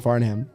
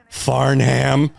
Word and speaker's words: Farnham: it was you're You're The Voice by John faram you're the voice yeah Farnham that sounds like a kid you went to